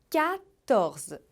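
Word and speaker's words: quatorze: número catorze catorze onf o mais importante é você lembrar de fazer som de cá catorze e não dizer quarto é porque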